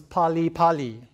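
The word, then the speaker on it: 빨리빨리: Okay, so in Korean, 8 is pronounced pal and 2 is pronounced e. And so when you have 8-2, 8-2, it becomes pali pali, which means hurry, hurry.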